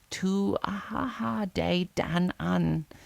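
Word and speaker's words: Tuatha Dé Danann: of the Tuata de Danan pronounced to Aaha de Danan, the ancient magical people who had once ruled Ireland.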